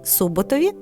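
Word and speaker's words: Суботів: що розташовані у чигрині Суботові До речі варто вимовляти Саме так стецівці Медведівці та урочищі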